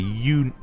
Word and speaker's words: Yonaguni: Today's weather, August 1st, for the Yonaguni, that's definitely pronounced wrong, region of Okinawa Prefecture will be sunny with southbound winds.